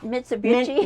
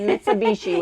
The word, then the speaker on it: Mitsubishi: for it's a m MIT I can't ever pronounce it mitsubichi Mitsubishi whichi which in my opinion is the only